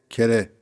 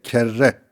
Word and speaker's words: kerre: Hani defa kez kere var ya onu konuşacağız. Kere Arapça bir sözcüktür aslında. Kere değil kerre. Eee bazı meşhurlar bu şekilde telaffuz ediyordu. Biz şaşırıyorduk. Kerre niye kerre? Meğer eee Arapçası kerreymiş.